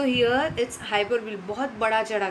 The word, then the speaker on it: hyperbole: Next one हाइपरबली. इसको हाइपरबली, हाइपरबोले, right, ऐसे pronounce किया जाता है.